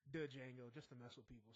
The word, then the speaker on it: Django: They were talking about Django Unchained, which I like to call the Django, just to mess with people sometimes, or just so they can correct me. Like, the D is silent.